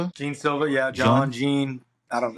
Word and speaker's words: Jean Silva: Well, the main event is going to be Diego Lopez versus uh is it John Silva? Jean Silva.